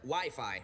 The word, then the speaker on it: Wi-Fi: Wifey? Well, it's either wiffle ball or an arranged marriage game. It's actually pronounced Wi-Fi, Ralph.